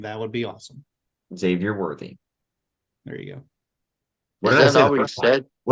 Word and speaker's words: Xavier Worthy: I'm hoping for a wide receiver, preferably Xavier Worthy. If you could pronounce his name, that would be awesome. Xavier Worthy.